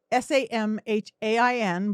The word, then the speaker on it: Samhain: we do is halloween is it's actually samhain s-a-m-h-a-i-n but it's pronounced samhain that is the day when the